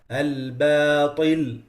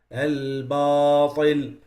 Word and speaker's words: الباطل: Or الباطل, that's the right pronunciation. They say الباطل, They change the ba and the alif, both, they make them heavy.